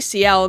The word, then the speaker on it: Sciel: It's definitely CL because it's SCIEL. I think I was just pronouncing it different, and that's why I got confused.